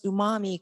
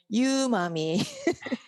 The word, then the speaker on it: umami: outside of japan it's very difficult to pronounce umami correctly many many scientists said you mummy so that that was